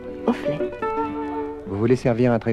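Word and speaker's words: Offley: Cela s'écrit presque comme il le prononce. O-2-F-L-E-Y. Offlet.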